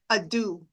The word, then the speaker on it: deux: A do. Like Thank a you. Dude. Okay. Like dude.